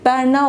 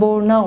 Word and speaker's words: Borna: Türkçe'de Berna olarak telaffuz ediyorlar ama Farsça'da aslında Borna olarak telaffuz ediliyor.